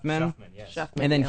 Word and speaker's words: Shuffman: Shuffman.